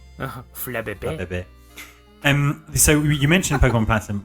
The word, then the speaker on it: Flabébé: Flabébé. Oh, it's set in Europe, isn't it? So I always say it's Flabébé, like a French. Flabébé.